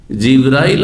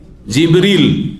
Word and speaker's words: জিব্রীল: জিব্রাইলের নামের দুটো উচ্চারণ রয়েছে। জানেন না জানেন না? আমাদের দেশে শুধু জিব্রাইল উচ্চারণটি প্রসিদ্ধ তাই না? কিন্তু হাদিস কোরআনে কি রয়েছে? জিব্রল কি রয়েছে? জিব্রাইল আর মিকা এখানে জিব্রাইল নাই। কি আছে জিব্রীল আমি প্রসিদ্ধ কেরাত যে